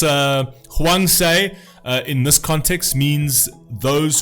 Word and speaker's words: 황새: Storks, pronounced hwangsae, in this context means those who are born with advantages.